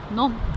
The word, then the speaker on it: Nantes: Someone says it's pronounced Nantes. None.